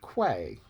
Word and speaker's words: quay: key in others um i think the english pronunciation is key quay is often used have a neighbor just